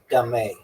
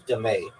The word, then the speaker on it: dame: End game players alternate alternately place stones on the neutral points intersections adjacent to both player stones also known as dame pronounced dé. Okay, also known as dé.